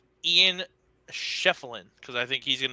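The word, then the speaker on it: Ian Schieffelin: It's Ian Sheffield, because I think he's going to do work on Cooper Flag tomorrow.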